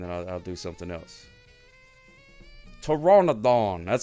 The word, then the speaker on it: Pteranodon: Pteranodon.